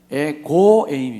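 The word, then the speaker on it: ἐγὼ εἰμί: 에고 에이미 가 들어갑니다 이게 발음은 태고의 의미가 아니고 에고 에이미 입니다 에고 애인이 한번 따라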